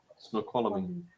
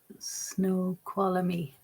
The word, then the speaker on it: Snoqualmie: Snoqualmie. Snoqualmie? Oh, Snoqualmie.